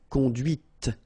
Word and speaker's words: conduite: and then the feminine, conduite. Okay, so here you can listen to this T, T, okay, conduite, right?